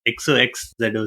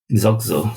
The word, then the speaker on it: Xoxzo: Like, it's XOXZO, so how do you pronounce it? Xoxzo. Xoxzo. Xoxzo. So you can just replace the X with Z and then K in the middle, Xoxzo.